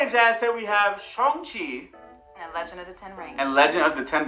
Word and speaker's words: Shang-Chi: So anyway, Shang-Chi. See, I'm saying it right because we used to say Shang-Chi.